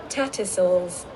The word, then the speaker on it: Tattersalls: Tattersalls Lane I really don’t know how to pronounce it hahahaha Let’s listen to the correct pronunciation together Ta·Tuh·Sawlz Wow!